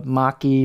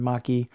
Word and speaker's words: machi: that's technically known as the maki or machi, depending on your pronunciation, maki.